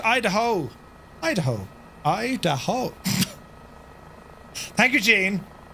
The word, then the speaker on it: Idaho: It's pronounced Idaho.